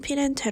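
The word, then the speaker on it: Firenze: 이탈리아 있는 도시이고 그리고 영어로는 플로렌스 라고 하는 것 같고 이탈리아 발음으로는 피는 제 라고 한답니다 예 필체는 중세 시대의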